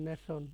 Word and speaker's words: nation: এই যে দেখেন নেশন, NATION, উচ্চারণ কি নেশন নেশন, কারণ টিআইও মানে কি তালব্যস্য।